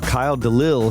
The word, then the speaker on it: Delisle: And we have Kyle Delisle here with us. Did I pronounce that right?